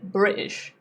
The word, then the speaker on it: British: British. There's no T there, right?